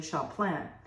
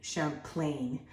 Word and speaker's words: Champlain: of all Samuel de Champlain um Samuel was the father of New France uh you could say his name Champlain that's the way we would say is English but Champlain was his his French he found he founded